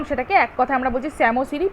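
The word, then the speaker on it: psammosere: এক কথায় আমরা বলছি স্যামোসিরি পি টা এখানে কিন্তু সাইলেন্ট তাছাড়া এখানে গল্প লেখা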